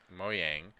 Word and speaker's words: Mojang: Today, Microsoft and Mojang announced that Minecraft Mojang That's how they say it.